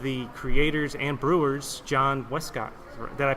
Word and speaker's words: Westcott: with one of the creators and brewers, John Westcott. Did I pronounce that correctly?